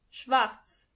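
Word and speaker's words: Schwarz: say Rosa Rosa or pink pink black means Schwartz Schwartz as you can see the letter R is not pronounced as R but more like so together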